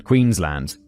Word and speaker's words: Queensland: the city of Brisbane, Queensland. David specifies land, not Lund. Queensland. I feel like that's just my British pronunciation. It' be like I think I could pronounce it Queensland if I want to.